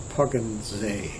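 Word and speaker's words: Poggensee: was only one street that's called poggins zay which is spelled p-o-g-g-e-n and z between the lakes or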